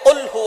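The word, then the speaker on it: قل هو: আমরা অনেকেই কফের জায়গায় কাফ পড়ি। একটা হচ্ছে কফ। আরেকটা হচ্ছে কাফ। কাফটা একটু পাতলা হবে। চিকন হবে। আর কফ একটু শক্ত করে পড়তে হবে।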